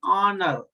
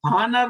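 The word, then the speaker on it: honour: हम क्या लिखते हैं, ऑनर। ये मैं आपको थोड़ा सा प्रोनाउंसिएशन भी, ऑनर, हानर नहीं, आप हानर नहीं लिखेंगे, हानर नहीं है ये, हानर, this is नॉट हानर, this is ऑनर।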